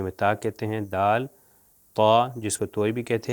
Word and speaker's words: ط: پہ تقریباً لگتے ہیں، مگر جب یہ طا جو تلفظ کیا جاتا ہے یہ موٹا تلفظ کیا جاتا ہے، اور زبان پیچھے سے جو ہے تھوڑی سی اوپر چلی جاتی ہے، جس کی وجہ سے یہ موٹا تلفظ ہوتا ہے۔ مثال کے طور پر